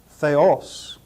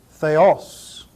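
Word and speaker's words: Θεός: and a final Sigma notice the acute accent over the second syllable this word is transliterated into English th h e oos and is pronounced Theos Theos Theos the next word logos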